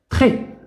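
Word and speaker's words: très: تري إذا لاحظوا ت ليس أمامها أي حرف سننطقها ت ثم اغ مع أكسون غراف مع او فوقها أكسون غراف ننطقها خي تري و اس لا تنطق.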